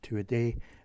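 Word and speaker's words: Tuatha Dé: a day I know it looks like says to Arthur there but it's garlic or it's actually Irish Gaelic and it means the people of the god pronounced to a day and they are this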